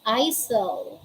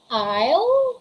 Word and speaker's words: isle: the examples we have isle we don't say iso there's no such word we say isle that's isle we don't